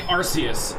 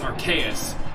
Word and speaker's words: Arceus: And the other name, people say Arceus, but it's Arceus because it's the combination of the term arcane and deus. Arceus.